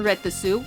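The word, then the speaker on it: Retasu: Seeing as how when they're normal their names are written in hiragana, they should be pronounced as Minto and Retesu, while their names as Mew Mews should be Mew Mint and Mew Lettuce.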